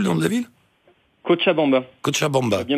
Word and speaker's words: Cochabamba: Cochabamba. Bien prononcé.